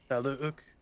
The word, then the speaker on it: Taluuke: When I first came up with it was Taluk, and then he's a Taluk because he says that the two U's are pronounced, and I just Right. gotta remember that. I just go Taluk.